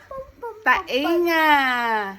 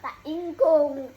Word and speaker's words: tainga: Ah tainga. Taingkong. Ay say it properly. Tainga.